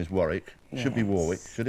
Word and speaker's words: Warwick: the united states and i understand that the w is silent in europe so i answer to both right have you been to warwick absolutely you haven't done